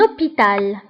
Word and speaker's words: hôpital: اش ما كنطقوهاش فكنقولوا un hôpital.